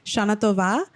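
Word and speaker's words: Shana Tova: in uh hebrew because i always say shanatova but i don't know that i'm saying it correctly that's how you say it okay well then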